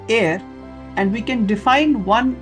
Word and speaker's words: are: written as 1 air so a r e it's a unit of area which is pronounced as air and we can Define